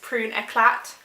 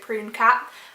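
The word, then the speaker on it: Prune Éclat: um flash plum and in french it's prune eclat i just read it prune cat um but yeah this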